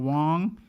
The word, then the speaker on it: Wonge: Once again, I go by the name of Wonge. That's spelled W-O-N-G-E. There's a silent E on the end.